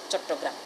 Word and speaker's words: চট্টগ্রাম: বিবৃত সংবৃত ন, ও নইব, এতলাই সিএইচ অ সঠিক বানানেই আছে, সিএইচ A double T এ জি আর এ এম চট্টগ্রাম।